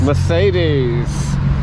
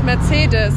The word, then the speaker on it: Mercedes: Mercedes. And that's the correct pronunciation. No, it's Mercedes. Mercedes.